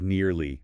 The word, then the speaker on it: nearly: Next, nearly. Sounds like nearly. Again, 2 syllables. We're nearly there. Avoid making it sound like nilly or rushing it. Nearly.